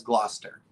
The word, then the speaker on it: Gloucester: Oh, and Bone Tire Traveler says they pronounce it as Gloucester.